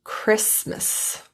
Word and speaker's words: Christmas: Only the first T is silent. Mortgage and Christmas.